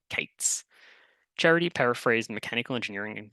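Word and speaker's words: k8s: She introduced the term observability, often written as 01 Y and pronounced Ollie and the style of Kubernetes being KS or Kates.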